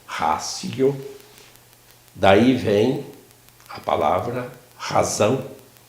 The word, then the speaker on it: ratio: A gente escreve ratio, mas em latim esse TI se pronuncia como um C, ratio.